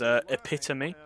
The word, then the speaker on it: epitome: If you're wondering, the correct pronunciation is epitome.